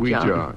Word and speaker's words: Ouija: Ouija, yeah. I gave it the alternative pronunciation because it really does rather help.